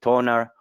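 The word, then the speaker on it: TONA: japanese yen we have primarily toner or toner it's the exact same rate you can pronounce it whichever way you want to i'm not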